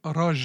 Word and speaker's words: Roger: You should know by now I go by the name Raj, the French pronunciation of my name.